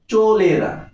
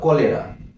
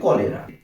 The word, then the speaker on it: cholera: কিন্তু উচ্চারণ হবে কলেরা। অ্যাকচুয়ালি সিএইচ এর উচ্চারণ ক হয় বা কে হয়, এই জন্য উচ্চারণটা সঠিক উচ্চারণটা হবে কলেরা।